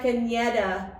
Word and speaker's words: Caneda: And right next to me is Caneda, also known as. Hello guys. Hey. Did I say it right? Yes. Caneda, yeah. Caneda with an N, yeah.